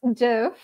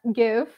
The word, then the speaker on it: GIF: Yes, it is pronounced GIF, not GIF.